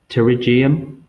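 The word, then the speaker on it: pterygium: is one of the first nail disorders it's pronounced terium and what it is is inward advance of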